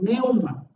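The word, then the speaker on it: πνεῦμα: ahí lo pongo en griego y cómo se pronuncia, neuma.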